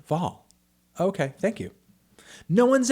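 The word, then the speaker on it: Hval: Also, Jenny Haval is pronounced with the H. Love from Norway, Anthony. Without the H. Oh, okay. Jenny Val.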